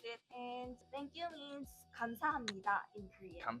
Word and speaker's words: 감사합니다: And thank you means 감사합니다 in Korean. 감사합니다.